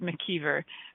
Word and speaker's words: McIver: I should pronounce it McIver because that's actually how she pronounces it, my friend McIver.